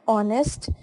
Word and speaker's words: honest: before our and honest, we also use an because when we pronounce these words, H remains silent and the second letter of the word o is sounded.